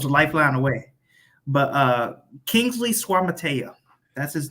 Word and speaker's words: Suamataia: But Kingsley Suamataia, that's his name.